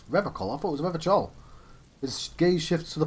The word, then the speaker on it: Revachol: He pronounces Revachol with a hard K, unlike other people. There you go. You said Revachol. I like to pronounce it the hard way, the old way, the Vespertine way.